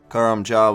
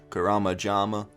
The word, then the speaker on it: Karamja: Karamja was usually Karamajama. Nay, it is not.